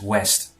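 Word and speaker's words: Ouest: West is west. Don't tell me why. The O U is just pronounced as W.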